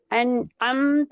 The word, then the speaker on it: أنعمت: عين أنعمت عليهم ரெண்டு ஐனையும் தொண்டையால உச்சரிங்க.